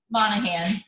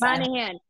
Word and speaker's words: Monaghan: I am super excited to have Monaghan? Am I saying it right? Monaghan, the G is Monaghan.